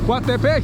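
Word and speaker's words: Coatepeque: Coatepec.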